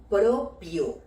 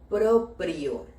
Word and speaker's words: proprio: en esta expresión es colocar la palabra propio en lugar de la palabra proprio es así con dos r una en cada sílaba Bueno yo sé que es más difícil pronunciar esta palabra con dos erres quizás precisamente por eso